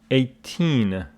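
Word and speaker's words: eighteen: between 18 and 80 yeah this one is pronounced 18 but this one is pronounced 80 the stress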